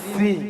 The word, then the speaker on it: শ্রী: ছিড়ি ছিড়ি নয় বলো শ্রী শ্রী কি বলো শ্রী শ্রী সিড়ি সিড়ি সিড়ি সিড়ি সিড়ি সিড়ি সিড়ি